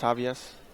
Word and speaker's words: Javius: Javius? I'm not sure how to pronounce this name. It's not Javier, it's Javius. Javius?